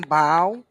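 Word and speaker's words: bough: I guess no wow I'm told by Google it's pronounced bow okay yeah yeah Google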